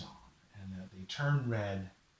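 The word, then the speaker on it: redd: They lay their eggs it's called a red. It's called red. It's like this paper or my shirt, red. It's not spelled red. It's spelled R-E-D-D.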